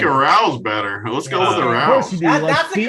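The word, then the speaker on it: Arauz: Let's go with Arouse.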